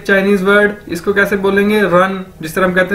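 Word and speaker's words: 人: हमारे पास एक Chinese word, इसको कैसे बोलेंगे, रन, जिस तरह हम कहते हैं दौड़ लगाना, रन, तो अगर इन दोनों इकट्ठा कर दिया जाए यानी ती रन, ती रन, डी आई यानी ती, आर ई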